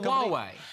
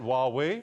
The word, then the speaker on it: Huawei: Huawei. I think it's a Jordi chatup line, isn't it? Huawei. See the real injustice that is not pronounced hui because whooui would be great be like lra is